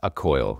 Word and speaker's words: Accoil: Because even these things, I think, I don't know how you're doing Accoil. How do you pronounce it? Product name. Accoil? I'm going to have a word with Simon about this. Accoil, yes.